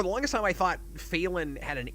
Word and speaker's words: Phelan: Like, a lot of the actors that have to say his name cannot figure out how to say Phelan without an N in it. Oh, weird. It comes out Phelan a lot.